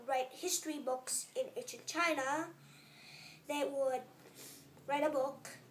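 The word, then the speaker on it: Qin: the CH was the chin D the Chin Dynasty kind of sounds like chin and it is spelled q i n not c h i n it's pronounced c h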